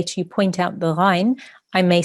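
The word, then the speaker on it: غين: the sound comes from, you need to know that the ghain comes from the top of the throat.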